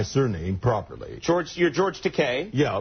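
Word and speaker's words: Takei: But he kept pronouncing it Teai, right? And I kept correcting him. I couldn't get it into his noggin. Right. So, I thought I'd give him a a way to rhyme that would stick with his head. Easy for him to remember. Yeah. I told him, "Bill, it's te just like rhymes with toupe."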